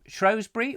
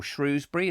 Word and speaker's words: Shrewsbury: are you up near Shrewsbury or Shrewsbury as some people like to pronounce it or are you down